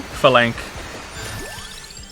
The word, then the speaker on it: phalanx: How do you pronounce Phalanx, Joe? Phalanx.